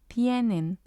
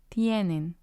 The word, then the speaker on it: tienen: And then we have tienen, tienen, which means they have. And again, we have nen and tie. Nen is the first syllable, tie is the second syllable.